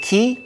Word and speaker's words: 気: Because ki is the Japanese pronunciation of chi, which is Chinese.